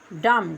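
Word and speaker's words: dumb: इसके बाद डी यू एम बी डम।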